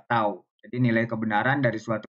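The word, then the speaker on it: τ: sini notasinya seperti ini ini dibacanya adalah tau jadi nilai kebenaran dari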